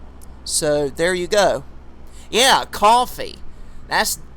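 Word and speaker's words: Ko-fi: Yeah, Coffee. I think that's how that website is pronounced, KO/FI. I think a lot of people pronounce it Coffee.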